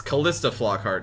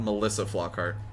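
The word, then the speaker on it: Calista Flockhart: said her name wrong it's kalista flockhart not melissa flockhart my bad but anyways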